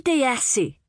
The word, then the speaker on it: DeYassi: "Melinda DeYassi," said the woman. "Rhymes with sassy."